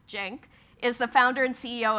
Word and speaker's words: Cenk: Cenk, pronounced Cenk, is the founder and CEO of the Young